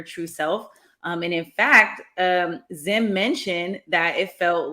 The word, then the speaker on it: Zzyym: Their name is Dana Zim. The last name is spelled so different, Zzyym. Zim is 63.